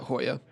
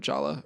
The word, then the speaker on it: Jolla: Is it bad that I really want to pronounce that Hoya instead of Jolla or Jolla?